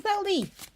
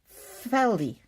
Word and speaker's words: Thaldi: Apparently I say Thaldi's name wrong. It's Faldi. If it's Faldi, then why does it start with a TH?